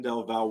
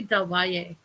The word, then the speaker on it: Del Valle: Please welcome to the stage Kim Del Val Walker. Is it pronounced Val? I wasn't actually sure. Is it Val or Valet? It's actually Del Valle.